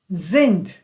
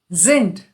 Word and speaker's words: sind: Wir sind. Sind. So the S here is pronounced as Z.